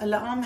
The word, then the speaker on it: alarm: Now, notice alarm has the schwa first and the long sound later.